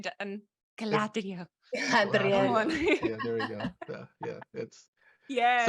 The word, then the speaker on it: Galadriel: No, you didn't pronounce it right, Dan. Galadriel.